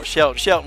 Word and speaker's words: Shelton: Mostly everybody gets it wrong. It's Coach Shelton with a T.